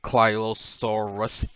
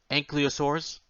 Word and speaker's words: ankylosaurus: a bumpy is a baby and clot and klylosaurus thought oh my god and clyrosaurus ankylosaurus and